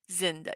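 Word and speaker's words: Zenda: Yes, he also played in The Prisoner of Zinda. Zinda, yep, I said it right.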